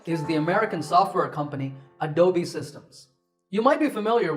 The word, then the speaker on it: Adobe: as a dome but that e at the end is not silent it should be said as an egg sound so it's adobe number nine is this